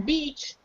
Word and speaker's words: beach: but like Luba said she stresses the E the beach the beach sounds like she makes it so long don't make mistake she